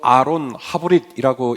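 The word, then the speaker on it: ארון הברית: 언약궤는 히브리 말로 아론 하브릿이라고 읽을 수 있는데요.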